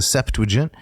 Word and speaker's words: Septuagint: Notice 3 syllables. The Septuagint.